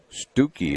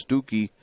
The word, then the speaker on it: Stucky: MD and Logan McDougall stooky is the way the coach said to pronounce it and I would believe that it's stooky simply because that's his